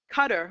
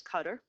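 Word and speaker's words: Qatar: butcher thurs 30,000 people cutter which is how you say qadar it's really said pronounced his cutter on this has an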